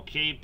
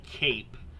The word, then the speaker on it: CAPE: So, um, energy that the storms need is actually measured, uh, by a term called CAPE, and it's spelled out just like it sounds, C A P.